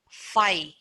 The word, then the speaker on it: phi: phi it means null set empty set we pronounce this as phi p h i phi phi is a greek